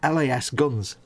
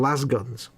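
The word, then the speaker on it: lasgun: pronounced because they're pronoun they're called l-a-s-g las guns now i call them laz guns because las guns and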